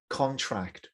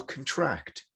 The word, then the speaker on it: contract: is on negative prefix the next word is contract or contract depending on if it's a noun or a verb so number one does the contract you sign makes sense to you there's the noun stress on the con there were different contractors